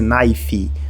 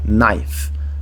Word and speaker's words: knife: final dessas palavras Então não vai ser naif ou K naif eu não vou pronunciar nem a letra k no começo e nem a letra e no final eu vou pronunciar Knife Knife plural aqui eu